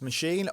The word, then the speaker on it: Maschine: like to work with machine or machine as the Germans would have us pronounce it uh I like to